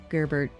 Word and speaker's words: Gerbert: sweet little baby boy, Gerbert Sherberberry. Gerbert. None of you said it right. None of you Gerbert. said it right. I heard it wrong too many times. Gerbert. Gerbert. Like Sherbert.